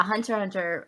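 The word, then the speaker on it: Hunter × Hunter: one thing i know you don't pronounce the x but yes i have not seen it well yeah hunter hunter uh i actually just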